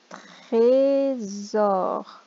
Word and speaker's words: trésor: Trésor. Un trésor. D'un côté une voyelle, de l'autre côté une voyelle, il va zozoter un trésor.